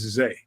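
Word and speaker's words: Zah: Right, Zay, Z-A-Y, but it's spelled Z-A-H. I'm going to have to ask that man to come on the show. Zameo. Right. It's spelled Z-A-H, but pronounced Z-A-Y.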